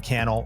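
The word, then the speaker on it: Cannell: below my name is canel rhymes with YouTube channel this is the think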